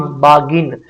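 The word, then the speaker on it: bargain: फिर आगे क्या, GIN, गिन, बागिन।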